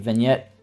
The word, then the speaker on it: vignette: So, the vignet or vignette, however you want to pronounce that. I pronounce it vignette.